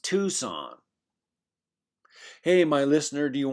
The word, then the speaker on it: Tucson: Excuse me, Professor Yu, I think it's pronounced Tucson.